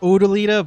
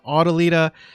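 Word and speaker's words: O'dyllita: that i've learned that the name is actually pronounced odolida but in that previous video i pronounce it autolida i mean it's an honest mistake but in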